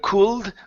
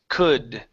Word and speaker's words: could: here is good okay instead of cooled with the LDL is silent could could could it be